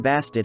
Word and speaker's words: Bastet: a more female-like figure emphasized by the pronunciation of the ending t sound of her name which has often been left silent the term bastid has been deciphered to